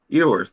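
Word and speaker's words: Quinn Ewers: I think because of the quarterback situation, I'm still of the opinion that that your Quinn Ewer, is that how you pronounce his Quinn name? Ewers, Ewer? yeah, Ewers.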